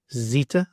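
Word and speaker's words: ζήτα: So it would be zeta, z, as in zoo, and zebra.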